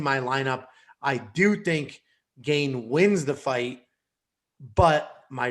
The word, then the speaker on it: Gane: Because you've got, I believe it's pronounced Gane, but we can keep going with Gane.